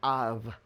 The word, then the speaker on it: Av: And that's the word Av. If it's personal to you, you'll add a second bull, and then you pronounce it Abba.